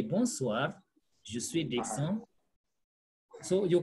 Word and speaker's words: bonsoir: Bonsoir. The R is pronounced.